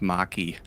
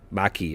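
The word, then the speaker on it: Makee: the covenant's name ma i think is pronounced maki maki okay i need to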